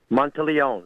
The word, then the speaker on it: Monteleone: M Montleó. Monte Leon.